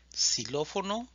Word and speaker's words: xilófono: quedaría que es segundo la x al inicio de la palabra se pronuncia como una s por ejemplo xilófono xilofón ist a xuxa